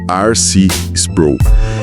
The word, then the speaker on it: R.C. Sproul: Sproul, que a gente pronuncia como R.C. Sproul.